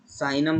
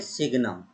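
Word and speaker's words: signum: साइनम function simple, साइनम function, sorry, इसको हिंदी में बोलते हैं सिग्नम। जी साइलेंट होता है, सिग्नम, और इंग्लिश में इसको बोलते हैं हम साइनम। जी यहाँ पर साइलेंट होता है, साइनम, और हिंदी में सिग्नम बोलते हैं, ठीक है ना।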